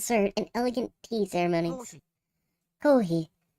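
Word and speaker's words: コーヒー: Kohi, or koshi, is Japanese pronunciation for coffee. Kohi.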